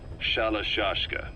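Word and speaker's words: Shalashaska: The guerrillas were using the name amongst themselves, and by the time I got to hearing about it, the pronunciation had wound up as Shalashashka.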